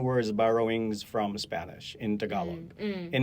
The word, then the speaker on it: Tagalog: D, for example, those So T and D sound the same. So no. So they would, for example, T, right? So when you say Tagalog, right, including the log, a Tagalog speaker will not say it like that. So say it like so they would say Tagalog. Okay. There's a very slight aspiration of the T, I see. the word initial T, but it's not as pronounced as a North American speaker would.